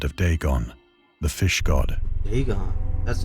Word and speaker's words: Dagon: Dagon.